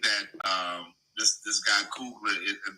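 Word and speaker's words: Coogler: So, um I I I think that um this this guy Cougler, is that how you pronounce his name? Cougler. That's correct.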